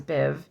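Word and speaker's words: Badb: okay like the other one Biv so the bab that was Bab is Biv and Meb is mave man and that's Irish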